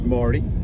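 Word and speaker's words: Mardy: My name's Marty. With a D. Marty with a D. With a D, but spelled with a D. Mm-hmm. No way ever says Marty.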